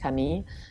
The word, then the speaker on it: Camille: The woman's name Camille, but it's pronounced Camille, and it's outside of Saint-Tropez, and it's on a private little beach, and they make an incredible bouillabaisse.